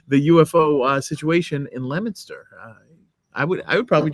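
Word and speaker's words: Leominster: coming Sunday on uh in lemonster Mass uh if if you want spelled like Leo Leo um and it's uh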